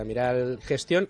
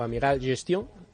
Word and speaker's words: Amiral Gestion: Pablo Martínez Bernal es, como todos ustedes saben, es el director de relación con inversores de Amiral Gestión, o Amiral Gestion, mejor dicho, ¿no?